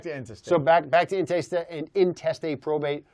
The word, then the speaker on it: intestate: So, how do you say it? Intestate? Intestate, yeah. You don't say interstate. No, that's not, because it sounds like you're on the interstate. So we don't do it that way.